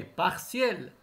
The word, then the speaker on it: partiel: prononcer séquentielle partiel partiel toujours le thé se prononce ici c'est partiel plus réel plus réel